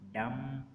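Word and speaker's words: dumb: बी इज़ not pronounced when following M एट द एंड ऑफ the word. अगर बी के बाद एम आ रहा है, यानी कि एम से एम आ रहा है और उसके बाद बी आ रहा है, तो बी साइलेंट हो जाएगा।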